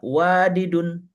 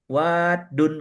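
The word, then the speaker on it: وَدّ: memang bunyi asalnya wadidun, tapi tidak diucapkan bunyi wadidun. Tidak, kalau kita ini gampang mengucapkannya wadidun, enak kita ngucapinnya. Tapi Ya, lisan Arab enggak. Wadun kata mereka.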